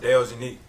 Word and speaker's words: Deojunique: chopped up but uh it's pronounced dale's unique i go by